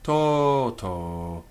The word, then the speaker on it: toto: Each syllable is heavy. It has a long vowel, long by nature, toto.